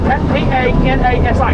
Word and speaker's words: Tanasi: Canoe, hammock, kayak, raccoon, possum, chipmunk, Tanasi, the word T-A-N-A-S-I, Tanasi is a Cherokee word that means curvy water.